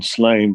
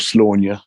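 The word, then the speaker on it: Sláine: job with that material material in slain but it felt like there was enough room or slaughter properly pronounced sorry bruno you know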